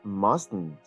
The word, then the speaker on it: mustn't: that must not mustn't there is the pronunciation of what we like to call the nasal tea it's actually very easy